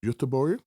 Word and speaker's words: Göteborg: When we were talking about Gothenburg, and I was teaching you the Swedish pronunciation of that city. Gothenburg? Göteborg?